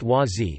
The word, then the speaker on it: Wah Z: Gross, spiritual name, Dap Ren, succeeded him until October 22, 1981, when Klemp, spiritual name, Wazi, pronounced Wazi, became the spiritual leader.